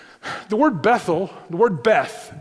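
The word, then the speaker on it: בית: The word Bethel, the word Beth, B-E-T-H, really it's pronounced Hebrew bet, all right, bet.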